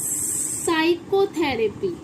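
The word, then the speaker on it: psychotherapy: अब देखिए इसे पी साइकोथेरेपी नहीं पढ़ेंगे, इसमें पी साइलेंट है, इसको हम क्या बोलते हैं? साइकोथेरेपी।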